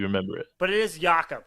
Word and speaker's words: Jakob: that's how you remember it but it is yakup right yeah yucca pearl i know it's spelled like poetal but it's pearl okay all